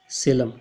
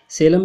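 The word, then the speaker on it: Salem: सेलम भी कह देते हैं, सलेम भी कह देते हैं। देखिए इसकी स्पेलिंग तो ये है, तो इसलिए कुछ लोग सलेम भी बोल देते हैं और मोस्टली तो सेलम ही पढ़ते हैं हम लोग। तो इसमें आपको कंफ्यूज होने की आवश्यकता नहीं है।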